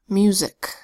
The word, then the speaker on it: music: First word, music. First syllable, mu, spelled with an M that says and a U that makes the long U sound U, mu. Second syllable, zik, with the S that says Z, a short I that